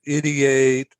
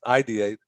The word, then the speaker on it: ideate: you mentioned the words idate and iterate uh so that the first one idate can't even say it right ID but that's that's ideate this is the idea